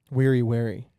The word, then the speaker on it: wary: Wary. Yeah, that's just like a Freudian slip I always have. I always pronounce it weary instead of wary.